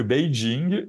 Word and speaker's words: Beijing: du monde sachant que Beijing est quelque part plus près des de la prononciation chinoise en tout cas de la prononciation pékinoise officielle parce que la Chine c'est un très très grand pays donc il y a aussi des dialectes des différences de prononciation et cetera mais c'est comme ça qu'on s'est rapproché du son chinois et si vous allez